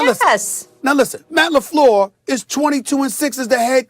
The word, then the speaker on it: LaFleur: Did I pronounce his name correctly, Molly? I just want to make sure I said Matt LaFleur. I didn't say that's right. LaFleur. I said LaFleur.